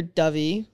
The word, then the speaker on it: Dyfi: It's near Dyfi.